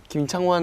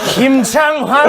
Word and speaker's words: 김창완: 그 김창완 누군지 선배님이랑 누군지 알아요? 누군지 알아요? 누군지 알아요? 너 누군지 알아? 알지! 밴드! 아 밴드인데 이거 가장 유명한 곡. 당연하지. 당연하지가 김창환. 환 아니고 완이야 완.